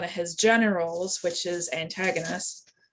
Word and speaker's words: Antigonus: his generals, which is Antigonus. Antigona, sorry, I pronounced that wrong. A lot of his territories were split up, and Ankara fell over to Antigonus and to his share of the territories.